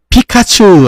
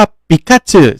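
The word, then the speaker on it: ピカチュウ: ผิด กัน เยอะ อ่ะ มัน จะ อารมณ์ เหมือน พิคาชู อ่ะ คือ คน ญี่ปุ่น เรียก ว่า ปิกาชึ ใช่ มั้ย ปิกาจึ ไง คือ มัน จือ ไง แต่ พอ เป็น ไทย ปุ๊บ คน ไทย จะ เป็น พิคาชู ชู อะไร อย่าง เงี้ย เออ ก็ เลย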